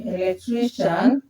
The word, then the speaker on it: electrician: So you can see this level before I A or C I A N are stressed.